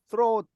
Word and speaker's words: throne: 스러운, 예, throne 쌍디읒으로 발음하라 그랬습니다.